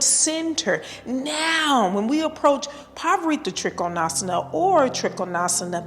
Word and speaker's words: Parivrtta Trikonasana: It's pronounced Parivrtta Trikonasana, and it has 5 vinyasas, and the Drishti is the fingers, Hastagrai, Drishti.